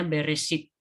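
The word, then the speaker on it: בראשית: manusia kemudian dari judulnya kalau dalam bahasa Ibrani disebut beresit ya ini tulisannya tulisan dalam bahasa Ibrani Tapi bacanya berisik artinya pada mulanya ya dalam bahasa Ibrahim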